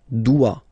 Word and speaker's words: doit: Il, elle, doit. Final T not pronounced.